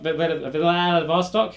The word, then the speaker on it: Vladivostok: Vladivostok, that's how they pronounce it over there, that you might not know.